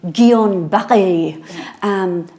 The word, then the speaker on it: Guillain-Barré: I pronounce it Guillain-Barré disease, but but it's French, so I think we should be going Guillain-Barré.